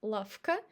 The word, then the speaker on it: лавка: And lavka, we say f instead of v.